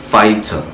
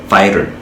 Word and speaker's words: fighter: Alors, ce mot se lit fighter, fighter au britannique, mais à l'américaine, on dira fighter, fighter, fighter, fighter.